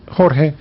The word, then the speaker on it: Jorge: George, I nearly say Jorge. George is good. George is good. Yeah, George is good. Spanish? Yes. Okay, I figured as much, yes. Absolutely, yes. So how would you pronounce that in Spanish? Jorge.